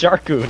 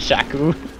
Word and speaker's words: Sharku: Didn't know there was an R in his name. It's Sharku, not Shaku.